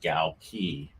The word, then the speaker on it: Galkey: I'm here with Brian Galkey. If you don't know how to say his name, it's like gal and a key, and you put it together and you get Galkey.